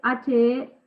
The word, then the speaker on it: Herendorf: Entonces, lo que dice Daniel Herendorf, se escribe H-E-R-E-N-D-O-R-F, Herendorf, es que desde afuera son parte de la Constitución y comparten las mismas reglas de supremacía.